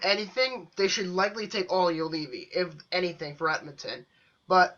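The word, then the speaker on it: Juolevi: What, Oliolevy? Correct, yes, Oliolevy.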